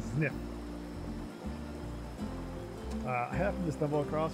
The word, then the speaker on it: Zniw: soul name sniff yep it's pronounced the snip i have to stumble